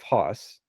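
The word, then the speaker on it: Höss: a political prisoner but rudolf haas i actually think it's pronounced who's who's i'm bad with the german pronunciations yeah but i found it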